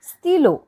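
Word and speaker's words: stylos: still and for stilo we added extra s to make it plural but it is not pronounced it becomes stilo which means these are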